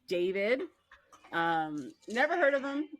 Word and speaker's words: d4vd: uh David D4 VD pronounced David.